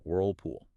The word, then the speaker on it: Whirlpool: Remember the dark L requires the back of the tongue to raise up towards the soft pallet giving the sound a resonant heavier almost olive quality.